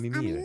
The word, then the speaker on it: Amimir: Is that how you pronounce it? Yes, Amimir.